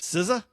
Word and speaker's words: SZA: The next one was SZA.